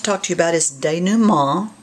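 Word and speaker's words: dénouement: to you about is denu ma did you hear the nasal on that day new mall and it's spelled d-e-n-o that's a french word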